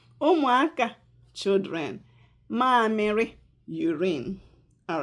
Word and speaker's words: ụmụaka: The first one is ụmụaka. The second one is mamịrị. Ụmụaka, children. Ụmụaka.